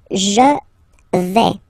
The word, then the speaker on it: vais: The first form is je vais. Okay, so remember, final S not pronounced here. Je vais. Okay, when you combine this A-I, you get the sound A, really open. Okay, je vais.